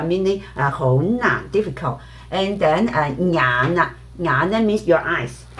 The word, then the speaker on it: 眼: And then 眼啦，眼 means your eyes. So some native also because they omit the NG sound, right? Then they will just pronounce 眼 just like they pronounce 牙 as Okay, so you